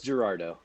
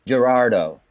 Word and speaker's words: Gerardot: It's Gerardo. Gerardo. Yeah, see, I got it right.